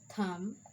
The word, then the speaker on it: thumb: the b is silent the letter b is usually not pronounced after m do you remember that at the end of a word like calm down thumb climb thorn tongue crumb and lamb see there is no sound of b in these words and